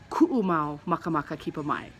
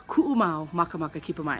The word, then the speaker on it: ku'umau makamaka kipamai: So it's actually ku'umau makamaka kipamai. So it's ku'umau makamaka kipamai, and that's how you pronounce it.